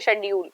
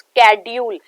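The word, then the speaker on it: schedule: और दूसरी हमारे पास है प्रोनाउंसिएशन की, जैसे हम सब ऐसे बोलते हैं, इसे बोलते हैं शेड्यूल, पर इट इज कैड्यूल।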